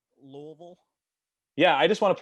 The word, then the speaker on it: Louisville: Can you pronounce that city in Kentucky that you keep saying? Louisville.